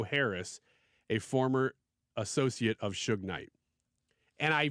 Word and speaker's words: Suge Knight: Michael Harry o' Harris a former associate of Suge Knight and I pronounced that right even though it's it looks